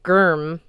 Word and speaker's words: GRIM: What is grim anyway? It's pronounced germ, Thor said.